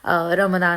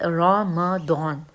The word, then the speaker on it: Ramadan: करते हैं तो ये the word is रम दन नॉट रमदान सो जो लोग रे और